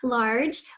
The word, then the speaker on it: large: clouds filled the sky large we here that are in the middle and then we hear that which is a soft G sound so what do we need to put after the G there that's right this island eight helps the G say it's soft sound fourteen begins like four